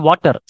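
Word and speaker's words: water: அதே மாதிரி வாட்டர். ஸோ எனக்கு கொஞ்சம் வாட்டர் கொடுங்க அப்படின்னு கேட்கலாம். அதை நம்ம என்ன சொல்லணும்? வாட்டர்னு சொல்லக்கூடாது. வாட்டர், வாட்டர் கொடுங்க, வாட்டர் அப்படின்னு சொல்லணும்.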